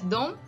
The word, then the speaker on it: de: Dom we write it like d e you can read it as Dome or they okay you can read it either way both are correct some people say it as Dome some say it as